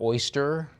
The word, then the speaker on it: Erster: Lot 109, Swarovski Erster and Pearl figurine. Open Erster or oyster, if you prefer the correct pronunciation.